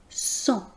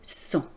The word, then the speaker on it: sang: Vous noterez donc qu'on ne prononce pas le G final. Ce G final nous donne cependant des indications sur la famille de mots, le champ lexical du mot sang.